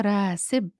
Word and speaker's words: راسب: فهو راسب, and it rhymes with مالك, owner.